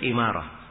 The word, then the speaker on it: Imarah: imarah ya di kasrah semua yang nama umarah begini tulisannya dibacanya Umar kecuali satu nama Ini dia satu nama ini yang diperkecualikan dibaca imarah Iya terus Ubay bin ka'ab